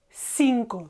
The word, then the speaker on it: cinco: to sound like them, cinco, just a normal S. Cinco, and again, a very short O in the end.